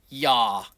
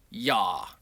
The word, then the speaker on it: Yah: Well, the first two letters yod hey is a shortened form of the pronunciation of his name and it is pronounced yah.